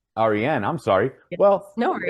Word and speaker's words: Arienne: It's actually pronounced Arienne. Arienne, I'm sorry.